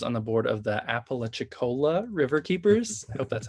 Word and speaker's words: Apalachicola: He also currently serves on the board of the Apalachicola River Keepers. I hope that's how you pronounce that.